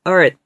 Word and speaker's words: earth: 그래서 earth. 이게 끝이에요. 네, 이름절 단어예요. earth 이렇게 나오는 게 아니라요. th 발음 여기서는 무성음이에요. 무성음. 그래서 이 발음이거든요. 네, 이거 무성음 발음. 네, 여기 성대가 안 떨리는 발음.